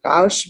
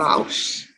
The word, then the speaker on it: Rausch: It's just that the swallowed R. Rausch. What does that mean? It's like the way when you pronounce the R like in your throat instead of on your tongue.